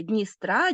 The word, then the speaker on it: Дністра: закінченні степу Байкалу рейнун але Дністра Дінця наголос на закінчення падає і це важливо наголос